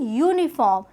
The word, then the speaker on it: uniform: one of the vowel, but we don't see the spelling when we are using the articles, but we have to see the pronunciation. So the starting sound is a consonant sound.